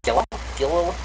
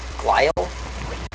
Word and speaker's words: glial: Gilil? I actually don't think I've ever heard it pronounced. Glial? Yeah, it says Glial.